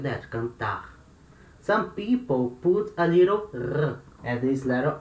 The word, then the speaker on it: cantar: Some people put a little air at the end of the word, cantar, cantar, to mark this sound of R. It's not wrong. You can say like that, cantar.